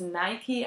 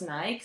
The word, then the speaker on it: Nike: official nike boss said you should pronounce it as Nike and not as nice so now you know